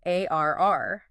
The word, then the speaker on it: AIR: about their new AI recruiting tool called Braintrust ARR. Okay. And just so you know, it's not an acronym. Oh, really? Yeah, you just pronounce it like the word air.